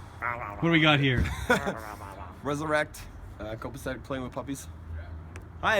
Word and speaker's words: Rezza Rekt: this is my friend resurrect we just had a battle on Ground Zero he didn't say res erect in case people were confused yeah don't don't spell